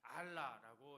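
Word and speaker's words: עָלָה: 알라라고 이렇게 발음하는데요.이 말은 단순히 장소를 옮겨간다는 뜻이 아니라 아래에서 위로 올라간다.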